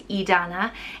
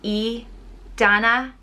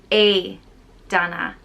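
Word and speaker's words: Aodhnait: is a similar but slightly different one it's idana it's also derived from aiden and means fire or flame it's pronounced ee dana idana or a dana adana another similar but slightly different one again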